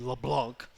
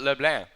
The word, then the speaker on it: LeBlanc: Gattis 4100 against Wade LeBlanc sticks for a littler is it leblanc or is it Leblon like it's supposed to be said you never know to Pat for pretty yeah it's a French name you pronounced it lucky